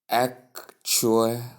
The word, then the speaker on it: actually: The word actually is pronounced, as you can see in this box or square bracket, actually. Actually. Now, common misuse, often pronounced as actually, right? Or shortened to actually by some people. Tip: the middle sounds true should be clear. So say it like actually.